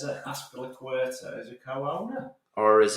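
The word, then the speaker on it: Azpilicueta: It says that Aspilicueta is a co-owner.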